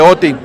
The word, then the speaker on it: Oatey: Oti está bien.